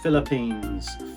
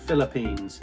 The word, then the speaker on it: Philippines: Just replace PH with an F.